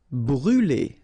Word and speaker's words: brûler: Brûler, all right, so remember to write this circumflex on the top of U, but then you don't pronounce it, so phonetically it doesn't exist, and it's brûler.